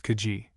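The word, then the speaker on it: Kazi: He still retains his title of kazzy asterisk this muhammedan title by which the officers of state are known in sikkim is their generally pronounced kaji and has had large lands assigned to him by the nepoese government.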